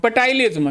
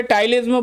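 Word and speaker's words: ptyalism: अगला पॉइंट, अगला की नोट, पटाइलिज्म। वैसे टाइलिज्म बोलते हैं, पटाइलिज्म बोलने में मेरे को थोड़ा ज़्यादा मज़ा आता है ना, और इसके अंदर पी साइलेंट है।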